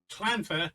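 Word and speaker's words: Llanfair: Clanfair. So the first word clan. The double L isn't pronounced double L. It's pronounced clan.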